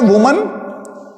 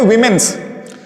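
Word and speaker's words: women: उसी तरीके से आप देखिए कुछ लोग क्या बोलते हैं, ठीक है, देखिए एक होता है वुमन और एक होता है विमेन। इसके प्रोनाउंसिएशन पे भी ध्यान दीजिए। कुछ लोग बोलते हैं विमेन्स, क्योंकि उनको हमेशा डाउट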